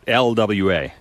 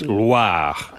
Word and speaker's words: Loire: But the Loire Valley is pronounced It's the how? Loire Valley. No. What is- Loire Oh, no. Valley. Oh, I didn't Not roll the Loire. R. It's not LWA. Oh. It's Loire.